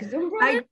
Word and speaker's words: Zumbrunnen: I am here with Leanne Zumbrunnen, and I think you got like a German twist to you, like Zumbrunnen. I do. You said it right, and I'm picking up your accent too.